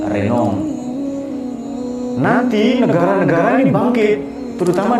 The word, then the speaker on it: Renan: Orang sana bacanya Renan.